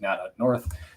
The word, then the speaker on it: Nat of the North: So the wife's YouTube is Nat Ut North, Nat of the North, but they pronounce it Nat Ut North.